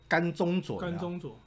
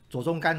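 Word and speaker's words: 甘中佐: 不是念作左中甘哦，是甘中佐。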